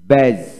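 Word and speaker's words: badge: তারপরে এখানে আসুন, তারপরে ব্যাজ, ব্যাজ BADG ব্যাজ দিয়ে উচ্চারণ হবে না, ব্যাজ।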